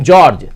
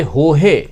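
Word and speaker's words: Jorge: द आरोप है की टीम जॉर्ज जिसे हो है प्रोनाउंस किया जाता है टीम हो है की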